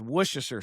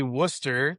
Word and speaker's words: Worcester: And but I confuse it with Worcestershire sauce, but that is not how you say it. It's technically technically Worcester, like Worcester, Massachusetts.